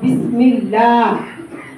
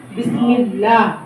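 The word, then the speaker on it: بسم الله: হবে পুর মোটা আল্লাহ আর যদি জের থাকে আগে তাইলে কি হবে চ্যাপটা বারিক হবে যেমন বিসমিল্লাহ বিসমিল্লাহ কি বিসমিল্লাহ বিসমিল্লাহ আমরা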